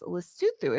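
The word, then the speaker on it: Lesotho: It's spelled um lasso, l e s o t h o, but I I made notes because I didn't want to mispronounce. So it's luthu is how they're pronouncing it.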